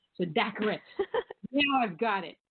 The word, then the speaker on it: Daccarett: Daccarett. Daccarett. Yeah, I didn't do that right. All right. So Daccarett.